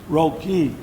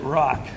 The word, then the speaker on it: Roque: So the first one up is Tristan Roque. I made sure I didn't pronounce it rock.